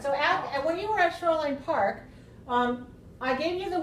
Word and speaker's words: Shoreline Park: like that also Shoreline when we get to the name Park then we change a little bit and we say Shoreline Park because usually when we tell the name of a park we usually stress the the last one Shoreline Park all right